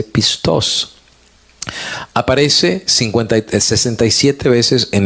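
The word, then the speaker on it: πιστός: masorético nuevo testamento griego Cómo se dice la palabra fiel y encontré que la palabra se dice pistoso aparece 53 67 veces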